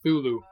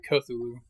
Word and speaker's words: Cthulhu: Tulu and I'm like I no it's actually pronounced thulu we're just you know white and say culu oh he said it I also determined whether